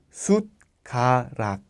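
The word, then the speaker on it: 숟가락: Si no hubiera tenido la D como aquí abajo, el sonido sería suc suc. Pero con la t como la pronunciación es sutar. Sut karat que significa cuchara.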